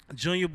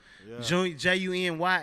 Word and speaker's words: Junya: I just kept the boy and spit to how people pronounce it where I'm from. You know what I'm saying? So, Junya, Junior.